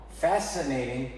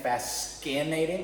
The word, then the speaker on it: fascinating: aiding maybe you think fast skinnating like c for cat fascinating there's a silent c here an entrepreneur it's mispronounced